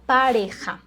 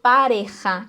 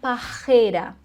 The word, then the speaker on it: pareja: que é a palavra pareja né No lugar de dizer pareja que significa casal dupla hum a pessoa pronuncia Parreira percebeu a diferença parja primeiro R depois o j e Parreira nesse caso